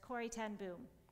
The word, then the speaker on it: Corrie ten Boom: I will say it with the American English pronunciation first, Corrie ten Boom, Corrie ten Boom.